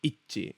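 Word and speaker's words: 一致: This is me being pedantic now, but it's Ichi. It's not Ichi, okay? Ichi means one. Ichi. So it's not Ichi. Ichi. It means together, okay?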